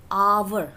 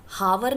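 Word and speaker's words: hour: नाउ आवर हम इसको हावर नहीं बोलते.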